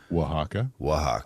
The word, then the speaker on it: Oaxaca: Oaxaca. Thank you. Sorry for that. Or if you're from Texas, it's Brohaca.